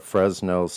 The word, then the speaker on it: Fresnel: It's pronounced Fresnel.